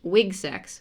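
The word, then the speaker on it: WGSX: our College called uh pronounced wig sex which is just W GSX was like the course code for it which stands for women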